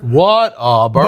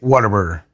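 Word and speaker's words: Whataburger: So, I guess technically it is what a burger. What a burger. But if you're from here, it's water burger.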